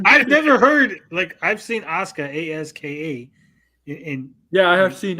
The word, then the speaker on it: Asuka: SmackDown took Asuka, which is weird because there's a U in her name, but everyone says Asuka.